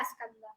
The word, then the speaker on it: Skanda: And I know how do you spell it. I don't know Okay. how to Skanda. Skan. Skanda. Skanda? Yeah, Skanda.